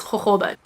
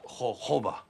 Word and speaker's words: jojoba: Guys, if you've watched Pink Panther, it's jojoba. It's spelled jojoba. It's pronounced jojoba.